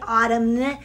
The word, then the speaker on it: autumn: The N is silent, which means even though it's right there, we don't actually pronounce it. We don't say like autumn, right? No, we don't say autumn because that would be like super, super weird.